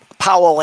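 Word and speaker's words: Poul: i'm pronouncing this correctly paul anderson but it's spelled p-o-u-l for some reason i think it's pronounced paul yeah oh okay yeah please paul what powell anderson is how i've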